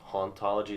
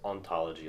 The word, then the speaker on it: hauntology: Yeah, but I think it's pronounced ontology. Like you kind of skip out the H.